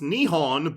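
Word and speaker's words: 日本: took the japanese word for japan which is pronounced nihon by the way added the incorrect translation of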